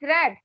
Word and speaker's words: read: one told me that you should pronounce past form of read like red and now what I